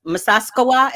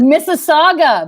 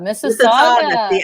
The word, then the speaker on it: Mississauga: so much from us masasawa is that how you pronounce it mississauga mississauga i just totally butchered it but thank you thank